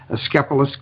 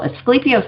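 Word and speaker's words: Asclepius: Asclepios is how I pronounce it, but he was the original physician, right?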